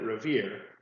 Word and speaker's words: Revere: to the fact that Revere rhymes with here in the poem.